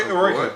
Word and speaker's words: Eroica: Is that how you pronounce it? Eroica? Yeah, Eroica.